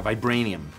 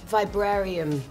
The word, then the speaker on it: vibranium: Yeah, vibranium. Vibrarium. Vibrarium? I'm really, really good with pronunciation.